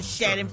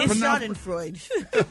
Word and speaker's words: Schadenfreude: You're acting so Schadenfreude. No, it's phonetically spelled out for you. How to pronounce it. But that's nothing none of us would Schadenfreude. say. It's 3 syllables.